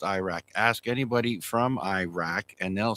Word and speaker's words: Iraq: Well, it's like people say Iraq. It's not pronounced Iraq. Ask anybody from Iraq, and they'll say, I'm from Iraq.